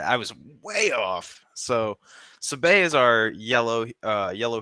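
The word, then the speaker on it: Sabé: So, her name is Sabay. Sabay. All right. I was way off. So, Sabay is our yellow uh yellow heroism, Queen Shadow,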